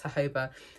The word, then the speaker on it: jojoba: It's tea tree and I think you say jojoba, or it's spelled jojoba, but I'm quite sure it's jojoba hair and scalp oil.